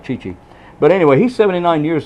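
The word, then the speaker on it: Chi Chi: birthday today okay but he never could pronounce Chichi Rodriguez birthday a real name Chichi Rodriguez he called him Cha-Cha Rodriguez Yes mine too but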